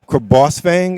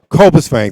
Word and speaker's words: Cobus Fang: Your adventures of Boss Fang. Am I saying it correctly? Cobus Fang.